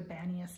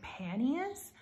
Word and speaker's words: Banias: So Banias, it used to be called like, or spelt with like a P, like it would have been like Panias, but I guess the P was silent. So they just kind of changed it to Banias, if I'm getting that correctly.